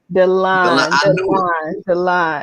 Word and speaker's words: Dalon: How do you pronounce that? Dalon.